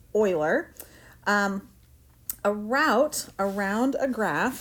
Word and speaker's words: Euler: that that name looks like it should be pronounced Euler but it is pronounced Euler a route around a graph that visits every